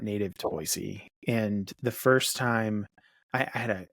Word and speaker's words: Boise: couple weeks ago in boisey am I saying it right Boise yes yes boyy perfect um it's funny last